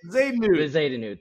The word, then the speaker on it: Bezuidenhout: But Christiaan Bezuidenhout, however you say it, I always butcher the hell out of it. Bezuidenhout, thank you.